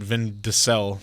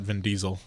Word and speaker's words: Vin Diesel: to the guy who used to pronounce it vin de sel not Vin Diesel so I mean I